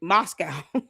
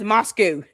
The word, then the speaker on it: Moscow: This girl can't even say Moscow. She says Moscow, not Moscow. Ain't she supposed to be over there trying to kiss their ass? Girl, can't even say Moscow correctly.